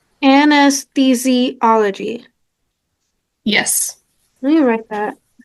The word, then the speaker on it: anesthesiology: I can't pronounce it. Anesthesiology. Anesthesiology.